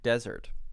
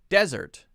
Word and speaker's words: desert: Well, I think you can hear, first, there's a stress difference. If I say usually a two-syllable noun or adjective, then I will usually, not always, usually stress syllable 1. Object, object. Present, present. Right? Desert, dessert. But now, you might say, wait a second.